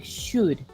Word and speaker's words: should: The L is silent. Okay, silent L. Silent L. Couldn't. Igual que would. Igual que should.